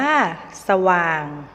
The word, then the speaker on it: สว่าง: ตัว ปรอท อ่าน ว่า ปรอท สว่าง อ่าน ว่า สว่าง และ เฉลียว ฉลาด อ่าน ว่า เฉลียว ฉลาด ทะเหล